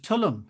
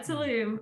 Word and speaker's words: Tulum: you're in beauty of tulum is how you pronounce it tullum yes yeah tulum i think there's like a little um at the end of it yeah tulum and we've been here